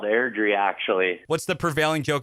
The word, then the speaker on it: Airdrie: Alberta Canada Way Out West little town called air-dry am i pronouncing that correctly boys Ellen's called Airdrie actually what's the prevailing joke about your hometown